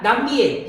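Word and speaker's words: Nam Việt: 자, 남비엣, 이거 베트남 말이지만 한자 표현으로 쓸 수 있습니다.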